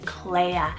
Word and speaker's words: Clea: meaning Noble one next is Clea spell c-l-e-a Claire very similar to Clio or Chloe but this